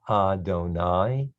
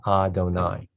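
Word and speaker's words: אֲדֹנָי: shem da low this is pronounced adonai it's a sight word we just have to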